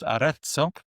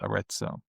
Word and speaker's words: Arezzo: It's from a brand called Aretso, which is spelled A R E Z Z O which is named after a town in Italy called Aretso.